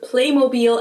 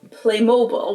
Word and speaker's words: Playmobil: But unlike how they did it with T-Mobile, they kept the German pronunciation of it for the American market too. In the US commercials, they call it Playmobil as well. Even though in everyday life, I've also heard Americans pronounce it as Playmobile, which sounds very different and somewhat wrong.